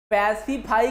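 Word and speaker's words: pacify: पैसिफाई का pronunciation कैसा है, पैसिफाई का उच्चारण कैसे, पैसिफाई। अरे पैसा पाई, कैसे, पैसा पाई यानी पैसा, है ना, पैसा का मतलब रुपया, है ना।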